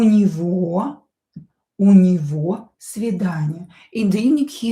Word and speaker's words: него: Сегодня, today, у него, this G as well pronounced as V, у него много дел.